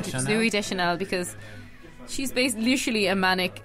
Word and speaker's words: Deschanel: Little bit of a quibble with Zooey Chanel. Is that how you say her name? Zooey Deschanel, because she's literally a manic, elfy dream girl.